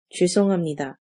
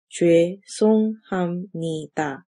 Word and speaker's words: 죄송합니다: This phrase is pronounced as 죄송합니다. 죄송합니다.